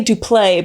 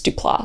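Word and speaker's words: Duplass: Bryce and Mark duplas I used to say dup but I heard him say his name and it's duplas so so it's dupas love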